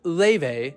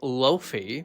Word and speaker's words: Laufey: Born Lee Lin Hter, pronounced Ley, not Loafy.